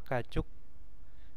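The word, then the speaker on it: 가축: Hati-hati ya, gajuk sama gajuk. Kalau gajuk itu hewan ternak ya. Nah, kalau gajuk itu adalah keluarga. Pakai U sama O perbedaannya ya.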